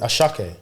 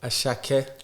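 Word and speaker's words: Asake: So it's Yoruba. The S's have silent H's in them. Okay. Yeah. Okay. When they pronounce it. Ashake.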